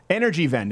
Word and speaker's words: Energiewende: So Germany started a program in 2010 called, I don't know how to pronounce this properly, Energiewende? Energiewende? Vend. Vend? W is a V. Okay. Energiewende in 2010.